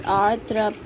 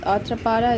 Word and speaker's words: arthropod: This word is arthropod in American and R silent, arthropod. It is POD, but Americans drop the jaw and extend the mouth, like stretch the mouth as arthropod in American, and R is silent, arthropod, POD, pod in British.